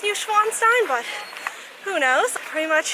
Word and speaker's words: Neuschwanstein: The castle we're going to is called Newcastle. Isn't it Neuschwanstein Castle? All right, I was wrong.